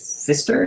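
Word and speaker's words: Pfister: a Wall-E uh fist Fister is what it's pronounced the PFI P Fister it's really weird name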